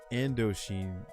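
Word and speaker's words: Indochine: I was going to that, how do you pronounce that? Indo endoch endochine pasta joint. Aent taste. Is that Indoch or endoch?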